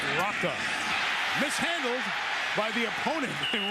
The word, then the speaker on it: Rocca: We've heard it pronounced Roca. He corrected it this week, says Sav Rocca.